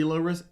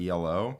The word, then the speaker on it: Elo: the discussion about that it's pronounced elo not elo we did and then